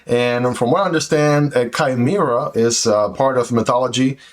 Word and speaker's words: Chimera: this one is called the would want to pronounce it Kimera but it's actually from what I understand pronounced kaima right and of course you can see the